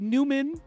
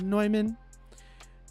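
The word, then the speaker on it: Neumann: noyman noyman by noyman it looks like Newman but it's pronounced noyman um Dante you said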